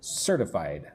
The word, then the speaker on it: certified: So, let's look at that word certified. Certified. Notice how the T is soft. Almost sounds like a D.